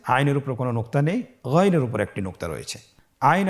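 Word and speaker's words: غ: ছাড়া বলুন আবার বলুন গন হরফটি মোটা অক্ষর উচ্চারণ করার সময় অবশ্যই মোটা করে বলতে হবে আইন এবং গন হরফটি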